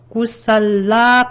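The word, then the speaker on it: kusala: 꾸살라, 이게 왜 라를 길게 발음했어요? 꾸살라, 요거하고 아꾸살라, 요게 겹치니까.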